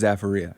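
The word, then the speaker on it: Zaferia: I'm pronouncing this wrong the zafara zafaria zafaria I don't think it's a real word but it's pronounced zafaria but that's that's a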